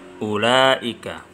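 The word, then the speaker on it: أولئك: Ulai, ulai, ulaika, bermakna mereka itu. Jadi lafadz atau huruf wawu yang ada di tengah ini adalah tambahan. Ketika kita perhatikan, ada lafadz wawu tetapi membacanya itu tetap pendek.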